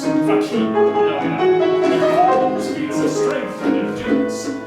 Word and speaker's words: fakir: Consider now the figure of India, or as the Hindu would pronounce, Fakir.